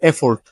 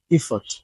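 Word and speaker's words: effort: cycle not cycle cycle bicycle 19 আমরা বলি এফর্ট যে তুমি আরেকটু এফোর্ট দেওয়া দরকার এফর্ট না ইফর্ট ইফট okay last one adjust not adjust উচ্চারণটা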